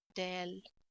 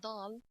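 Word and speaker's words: د: you pronounce later wrong if you say dal so the smiling is disappeared del you will find your face a little bit smiling so that's me that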